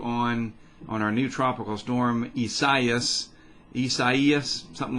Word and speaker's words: Isaias: It looks like Isaias, but it's not. It's Isaias, and here's the public advisory on it.